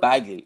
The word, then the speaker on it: Baggaley: is it Baggaley? Is that how you pronounce it's the Baggaley. Last name? Baggaley. Baggaley.